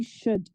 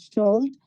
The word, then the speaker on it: should: اما راجع به pronunciation کلمه should L silent as guys. We can't pronounce as should. The correct pronunciation for that is should. L is silent.